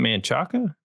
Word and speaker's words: Manchaca: Like Manchaca in Austin, Manchek. It's actually just Manchac.